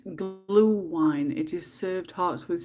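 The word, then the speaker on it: Glühwein: busy play this game you'll pronounce it glue wine it is served hearts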